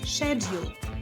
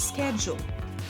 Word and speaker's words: schedule: British English, pronounced with a sh sound at the beginning, like in shoe, so it's schedule.